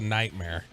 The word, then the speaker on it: nightmare: That's a nightmare.